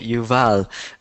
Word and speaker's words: Yuval: can youal actually pronounced always have a problem with my name yal okay it's pronounced like that okay Yuval um what how did